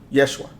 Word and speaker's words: Yeshua: name of Jesus and Jesus is not how it's pronounced I don't know if people know that or people really studied that there's no letter J in the Hebrew language J does not exist Yeshua that's the name um and and just